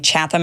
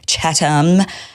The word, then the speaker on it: Chatham: Imagine if you did like a single Google search for the pronunciation. He makes fun of yesterday I was saying Chatham House rules. Apparently it's Chatham.